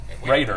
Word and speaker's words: Raider: Miss Reeder and Raider, actually. Raider is the correct pronunciation.